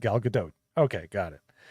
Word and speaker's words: Gadot: attention like how do you say it like Gadot okay got it like this finally put it